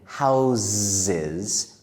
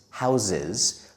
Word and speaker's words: houses: In America, we often say the first S in houseses. Houses like the letter Z even though it is the letter S. So, usually we don't say houses. It's not wrong to say that, but most of the Americans whom I met when I lived there said it like me, houses. It just sounds more natural.